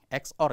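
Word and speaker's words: XOR: X or ya jangan sor bacanya.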